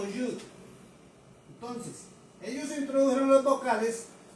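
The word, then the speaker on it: יוד: que las demás personas, Yod, es Yod, se escribe con O, y se pronuncia como Yud.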